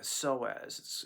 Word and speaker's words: psoas: It's called the psoas. It's spelled PSOAS.